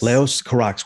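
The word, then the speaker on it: Leos Carax: you are the expert is it laos or leo's carax is that how we pronounce that filmmaker's name yeah leo's carrax yes leos karax we are that's gonna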